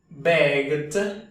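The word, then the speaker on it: begged: g al final beg al ponerle tu elegante e d otra G porque el verbo es monosílabo y está metido entre dos conson an la vocal beged beged beged el sonido que se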